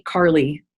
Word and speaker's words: Karli: it's my first and last name carly k-a-r-l-i not the girl's name c-a-r-l-y and that's